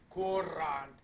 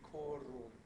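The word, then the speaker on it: curant: Yeah, I'm actually kind of mispronouncing. I'm really emphasizing my raw R's here. Courant. Actually, it'd be corunt. Is run.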